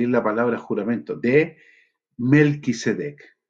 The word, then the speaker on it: Melquisedec: la palabra juramento, de Melquisedec, que en realidad se debería pronunciar Malquisedec, Malquisedec. Pero bueno, ustedes saben eso y vamos a usar distintamente esos dos nombres, aunque lo más correcto es Malquisedec.